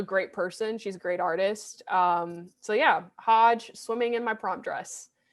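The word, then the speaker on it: Hodje: of plays but anyway her musical name is not maggie it's hodge it's spelled h-o-d-j-e um i'll link it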